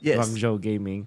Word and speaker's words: Guangzhou Gaming: Did I pronounce that correctly? Guanghou Gaming.